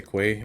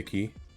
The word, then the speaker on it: quay: if you're new here I say Quay I don't say key I say it on purpose because it is the right way to pronounce it just a heads up